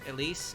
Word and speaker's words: Elis: and yes I know her name is pronounced Elise I just call her